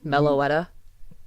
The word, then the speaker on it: Meloetta: Meloetta, Meloetta, yeah.